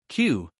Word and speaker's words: queue: Q This word has five letters. But it sounds like just one letter. We say Q Example We waited in a queue.